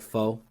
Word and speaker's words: pho: So, it looks like pho, but it's like pho, whatever. It's pronounced pho.